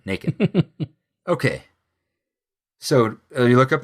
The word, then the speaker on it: Nacon: It happens at the threshing floor of, I say Nacon because it looks like bacon, so I assume it rhymes with bacon. Nacon.